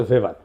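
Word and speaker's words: Weber: না আরেকজন দার্শনিক আছে ম্যাক্স ভেভার এটা ওয়েভার বলে অনেকে এটা উচ্চারণ আসলে ভেভার তার একটা লেজিটিমেসি এবং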